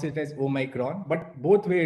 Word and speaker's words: Omicron: so people may pronounce it as omicron or omikron so we prefer to pronounce it as oh micron but both way it's fine uh i mean